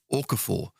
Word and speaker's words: Okafor: So depending on what sort of defence you're playing against or the fullback you're playing against, certainly Okafor is Okafor. Seemingly, that's how you pronounce it, because by commentating on LUTV, you get everyone telling you how to pronounce names, which is great.